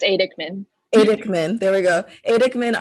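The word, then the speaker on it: Aidekman: So you have a piece up at I'm gonna say the name wrong again. It's Adikman.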